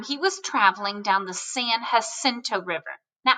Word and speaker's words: San Jacinto: At this point in time, he was traveling down the San Jacinto River. Now, I know it's spelled with a J, but we're talking about Spanish words again, and so that J makes the H sound.